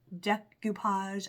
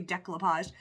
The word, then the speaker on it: decoupage: mod podge some stuff decupage I always say it wrong I always say decopage decupage some things we're